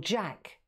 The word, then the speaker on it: Jacques: place there's a company called jack jacques it's spelt like french and it's they make